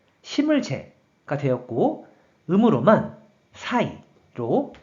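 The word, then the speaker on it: 栽: 그래서 재배할 재, 심을 재가 되었고 음으로만 사이로 발음한다고 설명드렸어요.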